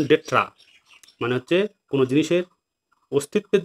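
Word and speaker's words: d'être: তো আছে রেজন ডেট্রা, ভালো করে দেখো রেজন ডেট্রা, উচ্চারণ ডেট্রা মানে হচ্ছে কোনো জিনিসের অস্তিত্বের যে গুরুত্বপূর্ণ কারণ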